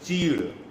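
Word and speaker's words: चीड़: The pronunciation in Hindi is cheed. So many times the pronunciation do really get haphazards. Understand it, we are trying to say something which is called as cheed.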